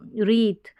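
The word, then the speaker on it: wreath: एल को plunge please यहां पर देखें डब्लू और आर जब साथ में आते हैं तो यहां पर डब्लू साइलेंट रहेगा तो र थ रीत प ई स पीस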